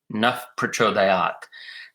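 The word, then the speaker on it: प्रचोदयात्: and teeth, top teeth, but this is a sound F made with your 2 lips without the teeth. Naf Prachodayāt. That is the only correct pronunciation of this word in Vedic Sanskrit.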